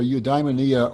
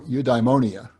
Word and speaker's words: eudaimonia: great term is you eudaimonia it's either eudaimonia or eudaimonia i've heard both pronunciations so eudaimonia sometimes translated